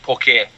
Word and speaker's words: poke: does favor poke okay in Hawaii we are we pronounce that poke a okay okay yeah so